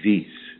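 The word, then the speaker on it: Vis: So I think it's pronounced Viz, V-I-S, Viz.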